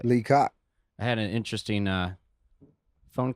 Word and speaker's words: Lee Coc: I pronounced it correctly. Lee Coc.